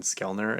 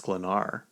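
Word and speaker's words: Sklenar: I I think in a Tik Tok I said Brandon Skelner. It's Slenar.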